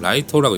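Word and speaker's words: 月: 장면이 나와요 데스 노트에서 주인공 이름이 야가미 라이터라고 해가지고 이런 한자를 쓰는데 그 주인공의 이름 그니까 키라고 쓴 다음에 그걸 라이터라고 읽는 거예요 그렇기 때문에 거기서 나오는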